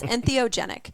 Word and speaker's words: entheogenic: yeah so did I say it right yes entheogenic so when you think of empathy right when